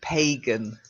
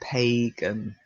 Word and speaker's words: pagan: that's it and the last one again the long a pagan now i say that but i know that in sumter come circles and i believe in hagen circles they say phangan but honestly I if you're talking normally you would say pagan so like that pagan okay but I have